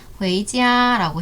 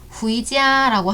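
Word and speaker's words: 回家: 그런데 생긴 모양으로 봤을 때는 후이라고 읽어야 될 것 같은데 그러면 안 돼. 중간에 에 발음이 생략돼 있어서 회이라고 발음해야 돼요. 그래서 집에 돌아가다 또는 집에 돌아오다를 성조 2성과 1성을 입혀서 발음하면 회이지야라고 해요. 절대로 후이지야라고 하면 안 돼요.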